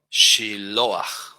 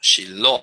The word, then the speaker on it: Shiloah: Shiloah. No se dice Shiloah. No, Shiloh, tilde en la O, acento en la O.